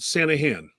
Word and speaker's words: Sanaghan: yeah thanks for asking the g is silent it's called santa han all right so sanahan is a procrastination expert